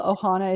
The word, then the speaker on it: Ohana: your own and your family's is called the ohana is it o-h-a-n-a is that how you pronounce it okay yeah the ohana adventure all